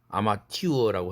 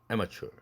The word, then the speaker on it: amateur: 계속 여러분들 따라서 발음해보고 있지요. 74페이지입니다. 아마추어라고 하진 않죠. amateur.